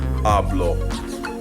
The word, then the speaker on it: hablo: Hablo. Now hablo, the natural stress there is on the next to last syllable because hablo ends in a vowel, O.